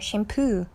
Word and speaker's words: shampoo: 샴푸 하면은 여러분 발음이 샴이에요. 샴푸. 강세는 뒤에 있고 샴푸라고 해요.